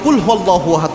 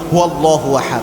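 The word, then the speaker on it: قُلْ هُوَ ٱللَّٰهُ أَحَدٌ: পড়ি, যে ভুলটা করি, আমরা অনেকে কুলহু আল্লাহু আহাদ পড়ি। মানে হচ্ছে যে আল্লাহ এক তাকে ধরে খেয়ে ফেল। এরকম একটা অর্থ হয়। এজন্য কফটা ভালোভাবে উচ্চারণ করবেন। কুয়াল্লাহু আহাদ। এভাবে উচ্চারণ করবেন। কফ এটা কিন্তু এটা কিন্তু কাফ না।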